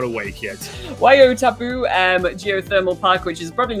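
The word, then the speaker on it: Waiotapu: so-called career curry whale park and probably not pronounced right either and there's also the white why Oh poo and I've forgotten all the names where your taboo wai-o-tapu okay guys it's a 24 a.m.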